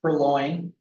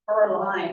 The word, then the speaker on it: purlin: Yeah, that's, sometimes you'll hear, you pronounce it purloin. I've heard that as well, but it's purlin, Purlin. I just know by oral, per line, it Yeah. sounded like per line.